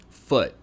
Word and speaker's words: foot: word is spelled f-o-o-t foot now it has a uh instead of a ooh so it's foot and notice when the